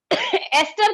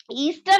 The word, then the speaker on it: एस्टर: ये एस्टर है, ईस्टर नहीं बोलना, कई लोग ईस्टर बोलते हैं, दिस इज एस्टर, ठीक है।